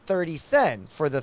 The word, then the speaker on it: sen: So I'm assuming that the inn costs a little bit of sen.